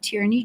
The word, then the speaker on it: Tierney: or they can just put in my name tyrany James or and tyy is spelled t i e r NY for those